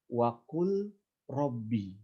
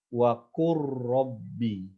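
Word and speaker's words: وَقُل رَّبِّ: Kita tidak boleh membaca dengan waqul rabbi. Gimana caranya? Kita harus membaca dengan bacaan idgham. Ya. Huruf lam yang sukun itu hilang. Kita masukkan kepada huruf ro-nya. Sehingga kita harus membacanya dengan idgham. Waqur rabbi. Waqur rabbi. Jangan waqul rabbi, tapi waqur rabbi zidni ilma.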